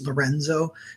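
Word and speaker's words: LRNZ: artist named el r and z which is pronounced lorenzo and he's really great and then the one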